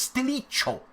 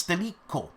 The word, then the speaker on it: Stilicho: Also, I don't know how to pronounce this, but it's Stilicho. But Cho. That's not the way you spell Cho in Italian, but I fear it's Stilico.